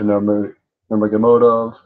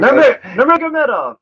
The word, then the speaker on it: Nurmagomedov: fight to make, especially when you've got Habib Nurmagomedov. You can never say his name right. It's so funny. It's like Nurmagomedov. Nurmagomedov.